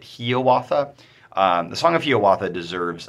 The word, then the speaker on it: Hiawatha: Song of Hiawatha is how it's usually pronounced, though Longfellow pronounced it Hiawatha.